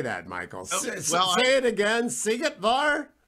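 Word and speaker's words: Szigetvár: Sigetvar. How do you expect a radio host to say that, Michael? It again. Sigetvar? Sigetvar, yes.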